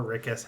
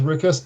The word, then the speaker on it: Rikus: always pronounce it as rickus because to me my mind is like oh it's like eric but without the e and add this so